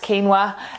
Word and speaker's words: quinoa: It's written quinoa but pronounced quinoa, and it's a grain that's like buckwheat, I guess if you're familiar with buckwheat.